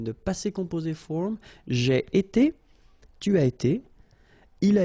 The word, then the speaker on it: été: itself every time, and it's pronounced like été, été. All right, so j'ai été, tu as été, il a été, elle a été.